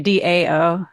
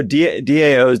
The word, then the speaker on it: DAO: Okay, DAO. Did I say it wrong? DAO.